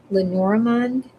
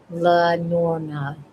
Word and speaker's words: Lenormand: I'm a black, I had the word, Lenormand, uh, Lenormand reader and psychic medium, Harvard educated.